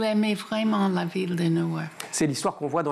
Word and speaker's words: Newark: On est à Newark, j'essaye de prononcer correctement, vous me corrigez s'il le faut. Newark.